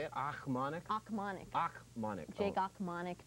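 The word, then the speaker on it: Ochmonek: Achmonic?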